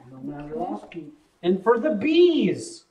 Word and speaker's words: Bill Mazeroski: Is that pronounced right? Bill Mazeroski.